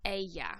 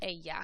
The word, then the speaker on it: ella: She is ella. Remember that double L, the ella, makes a y sound. Again, it might make a j sound, so you might hear ella or ella. Either way, I say ella because that's what we pronounce mostly in Mexico.